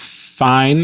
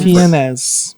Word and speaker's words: Fiennes: Ralph Fiennes, I think is how you say his name. Fiennes.